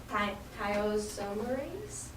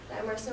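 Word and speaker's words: thiomersal: in this ingredient called thiazomerase. Am I saying it right? No. Thiamersa, which is a mercury-containing ingredient in the vaccine.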